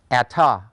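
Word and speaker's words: אַתְּ: The second masculine singular form is pronounced ata.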